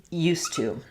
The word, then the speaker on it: used to: In these two phrases, they both become used to.